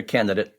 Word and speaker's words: candidate: So, are you totally dropping that that D at the beginning of the second syllable? I think this is just a tossup. At least for me, I think I would most more than the final syllable, I would most commonly, most consistently just drop that D, the first D.